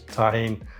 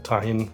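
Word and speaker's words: Tajín: chili salt which is tahen uh or tahin you pronounce it um paprika and salt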